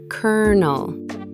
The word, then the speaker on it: colonel: Sounds exactly like the word colonel. Pronounced colonel.